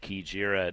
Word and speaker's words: Kijira: And I guess they say it Kijira, and Travis Stone is diligent with pronunciations. That seems to be the way he's saying it.